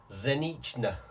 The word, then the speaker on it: pszeniczne: And this is a bottle, excuse my pronunciation, a bottle of their Zlote pszeniczne. Pszeniczne. I can't do the bit pronouncing the P at the start, but it's a pszeniczne lager, which is basically a wheat beer, 500ml bottle.